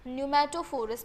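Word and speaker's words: pneumatophores: तो इसका प्रोनाउंसिएशन है न्यूमेटोफोरस, पी साइलेंट होता है इसमें।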